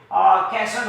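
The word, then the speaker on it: castle: है खब होता है जब टी से पहले एफ या एस आए तो हमेशा साइलेंट हो जैसे मिशन होता है यहां पे कैसल होता है, शॉपन होता है। यहां पे टी साइलेंट है, सॉफ्ट है।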